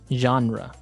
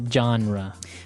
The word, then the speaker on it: genre: comes from French uh it's a g word so genre it's a soft soft sound MH and what's a genre well a genre is